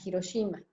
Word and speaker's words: Hiroshima: un día llegué a hiroshimas o hiroshima como lo pronunciamos en nuestra lengua justamente llegue llegamos éramos